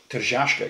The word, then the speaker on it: Tržaška: Tržaška. You have to say it like Sean Connery.